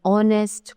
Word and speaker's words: honest: Now, some words begin with a silent H, such as an R, an honorable man, an honest person, an honor, right?